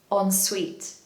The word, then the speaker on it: ensuite: So the hack is that it's just the word on and the word suite, ensuite. Now, the stress is on the second syllable, so make sure you say ensuite.